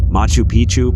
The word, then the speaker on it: Machu Picchu: Machu Picchu, Peru. When a place rhymes with picture, you can almost bet it will always give breathtaking images every time.